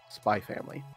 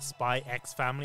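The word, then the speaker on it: SPY×FAMILY: But like the X in this regards, when it comes to a Japanese title, it represents like an ampersand that you don't pronounce.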